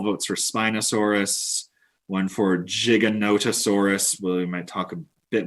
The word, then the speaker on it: Giganotosaurus: taking the lead now a lot of people might look at that and think it's pronounced gigantosaurus but uh there's actually a sneaky little o in there so the whole name giganotosaurus means giant southern reptile